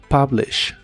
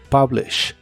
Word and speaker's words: publish: en inglés es publish la u de esta palabra otra vez se pronuncia como a publish publish el verbo conjugado mentirme